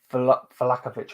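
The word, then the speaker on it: Vlahović: I know that Vlahovic has been a definite Vlahovic, I say his name, from Juve.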